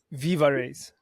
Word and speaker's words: VivaRays: Is it VivaRays or VivaRays? VivaRays.